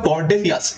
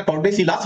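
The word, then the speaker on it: Tordesillas: তো পর্তুগিজ এবং স্প্যানিশদের মধ্যে 1494 খ্রিস্টাব্দে একটা চুক্তি হয়, যে চুক্তির নাম ট্রিটি অফ টর্ডেসিয়াস, এটা টর্ডেসিলাস হবে না, টর্ডেসিয়াস, এলের উচ্চারণটা হবে না, তো টর্ডেসিয়াস কর্ডেসিয়াসের চুক্তি হয়।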